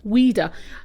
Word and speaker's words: Ouida: prolific writer right and her pen name was weeder it's spelled o u i d a and it